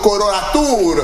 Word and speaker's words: coloratura: Qu'est-ce qu'une soprano coloratura? Je prononce bien?